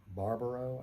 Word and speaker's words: Barbaro: And Monica, I don't know how to pronounce her last name. Barbaro, I think is how you pronounce it.